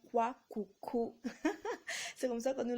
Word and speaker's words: kouakoukou: It is called kwakoukou.